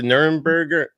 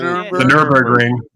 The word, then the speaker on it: Nürburgring: The Nuremberg? The Nürburgring.